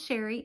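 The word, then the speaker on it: Chere: My name is Sherry and that is spelled C H E R E. It is spelled a little fancy but pronounced plain Sherry.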